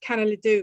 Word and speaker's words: Kanelidou: then realize that i'm presuming you're saying it's pronounced canela do but i've i yes good i i should